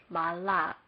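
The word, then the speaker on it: מָלַךְ: Mem is marked M, kamet is a long A, next lamed is L, next patak is marked with a short A, next kap is marked K. We would read this as malak.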